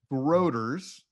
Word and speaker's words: Grooters: And Groot has and it's actually pronounced Grooters, correct?